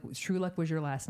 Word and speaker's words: Truluck: have you heard of um trellock and then finally you go it's true and like you said it and you looked at me I was like oh I get it I've been saying the name wrong so where does Truluck